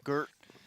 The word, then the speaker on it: GRT: Come on, Gert. Expect more out of you, Gert. For those wondering, the coach of CLG's name is Garrett, but his alias was GRT. So we call him Gert.